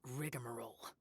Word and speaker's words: rigmarole: their mystical workings as rigmarole I've heard that word before but I've never seen it spelled like that I thought it would have something between the G and the M but it